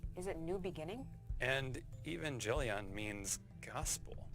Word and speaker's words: Evangelion: And Evangelion means gospel. It's pronounced Evangelion, but let's go.